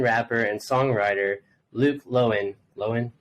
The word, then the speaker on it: Loewen: Loewen, right? Indeed, pronounced correctly.